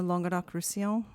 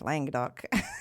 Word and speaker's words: Languedoc-Roussillon: Teach me it again. Languedoc. Well, down there, they have a little bit of a southern twang, so it's more like Languedoc. Languedoc-Roussillon. Roussillon. So it's Languedoc-Roussillon. It's not so hard, really.